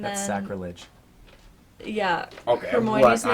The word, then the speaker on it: Hermione: yeah, Okay, Hermione's what? name is like they pronounce it. It's almost like Herman, but it's not.